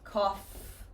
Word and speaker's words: cough: Cough. Coughed. So, any F pronunciation, it might be written differently, but the pronunciation is still an F sound.